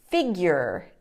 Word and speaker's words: figure: that word number two figure figure often students make the mistake and say figure but the correction is putting a y sound in there in the middle of that word like figure figure try